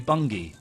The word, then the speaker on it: Bungie: rubbish wouldn't it no it wouldn't be bungy it will be bungi bungi that's worse still be but it's not very good I'm yes they've made the right decision pronouncing it Bungie so uh bungi have